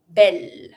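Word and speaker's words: belle: The feminine of bo is ble. And here there's a double L, but I just pronounce it like one L. Bell, modern, masculine, feminine.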